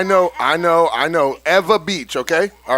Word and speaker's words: Ewa Beach: okay there you go she just taught me how to say it it's ewa beach right yes so if